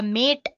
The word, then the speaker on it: MATE: boots you into the mate desktop environment let me pronounce it m a you can call it whatever you want mate or mate desktop environment so as